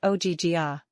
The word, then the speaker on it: Ogygia: She pronounced it like Ogygia.